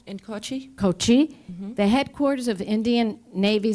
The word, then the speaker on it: Kochi: 2 Iranian warships were docked in a town, I don't want to pronounce it wrong, Kochl, In Kochi? Kochi, the headquarters of Indian Navy Southern Command, for a training program under a 3-year-old military cooperation agreement with Tehran.